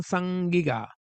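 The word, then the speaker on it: saĝ-gig₂-ga: use of the term Sangiga. That's literally how it is pronounced, according to Assyriologists and Sumerologists, language specialists, better known as the black-headed people.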